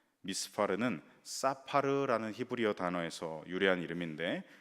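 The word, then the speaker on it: מִסְפָּר: 수효라는 의미를 가지고 있습니다이 미스 발의 정확한 발음은 히브리어로 이제 미스파르입니다 미스파르는 사파르라는 히브리어 단어에서 유래한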